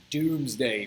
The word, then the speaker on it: Domesday: the Conqueror writes his doomsday book right I know it says Domesday but it's pronounced the Doomsday Book right and in the